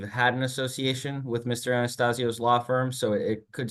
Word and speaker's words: Anastasio: okay what your attorney's name uh uh uh Anastasia but uh Anastasia something like that is it ver Vern Anastasia yeah yeah Vern Anastasio yeah right someone would need to spell that